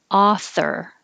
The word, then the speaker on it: author: long time ago 47 author the vowel is ah author and 48 you curl